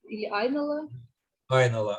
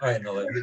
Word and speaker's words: Айнола: которых мы частично говорили айнола айнола best practice to get правило ударение на первый слог владелец два аспекта конечно